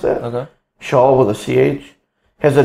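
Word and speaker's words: Chaelle: AE ll e so shall the safeguard is how I pronounce it a shawl with a th has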